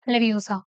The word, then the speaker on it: Leviosa: उसको बोल सकता है she is saying it's leviosa not leviosa ठीक है it's leviosa